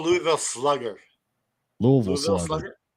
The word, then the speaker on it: Louisville: you call Louisville Slugger Louisville slugg Louisville Slugger everybody in the state of Kentucky pronounces Louisville as Louisville like l o o v i l l e yeah so just just